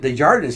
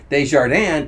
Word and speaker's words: Desjardins: Someone asked him once, like, you know, how do you pronounce your last name? Is it Desjardins or is it Desjardins? He pronounced it Desjardins. He said, because if I pronounced it Desjardins, people would think I speak French.